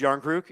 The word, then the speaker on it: Järnkrok: Oh, it's Oh, it's pronounced Järnkrok.